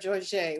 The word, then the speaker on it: Jorge: um here's one from pat george walker jorge walker better say it correctly or she's gonna spank me and she is old enough to do that thank you very much